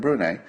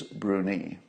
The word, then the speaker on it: Bruni: in the comments that the pronunciation is bruni I hope that's right